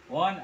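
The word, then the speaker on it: one: जैसे कि देखिए, जैसे मैंने लिखा, क्या लिखा, ऑक्स, ऑक्स लिखा, और मैंने क्या लिखा, वन act play, वन act play.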